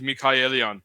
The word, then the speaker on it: Michaelian: john nichol michaelian michaelian it's so once when steve said it it sounds so american is that right well the armenian pronunciation is mikhailian mike like michael mikael uh that's not how